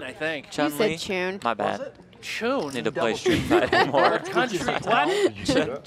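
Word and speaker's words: Chun-Li: Chun like rhymes with June. What is What is happening? Jeff, I haven't I haven't played Street Fighter recently. Chunley Chun producer Pat gets in my ear and says it's Chunley.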